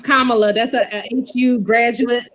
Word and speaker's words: Kamala: Kamala, that's a HU graduate like myself.